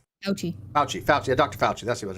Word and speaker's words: Fauci: How do you pronounce his name? Fauci.